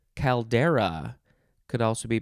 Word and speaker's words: caldera: know what that is next is caldera could also be pronounced caldera or caldera c-a-l-d-e-r-a noun from 1691